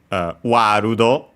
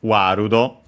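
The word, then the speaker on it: ワールド: Warudo, World becomes Warudo. with a longer vowel. As usual, the long A, again because we have the sound and so the closest one, A, and then also long, as already mentioned. The ru for both the for the L technically, word, world, but yeah, Japanese doesn't have the L sound, it becomes Japanese R, even though L can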